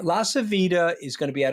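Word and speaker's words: LaCivita: La Savita, by the way, I'm Italian, so it's La Savita. I love the way you pronounce the name, by the way. I think you said Lascidia.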